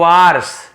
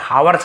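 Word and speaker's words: hours: चलो एक दिन रसोइया बन जाते हैं with in अ फ्यू आवर्स यानी कुछ घंटों के भीतर ही तो इसे आवर्स पढ़ सकते हैं या आवर्स पढ़ सकते हैं बट हावर्स नहीं पढ़ना है एच को नहीं पढ़ना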